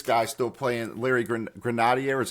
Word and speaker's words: Grenadier: of course this guy still playing Larry gr Grenadier is how you pronounce his name I'm Larry Larry Grenadier Grenadier yeah great Bas play um you see